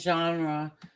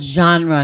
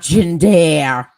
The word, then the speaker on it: genre: was in this genre, it's called genre, not gender. Genre. Kills me. It's The way called they pronounce genre.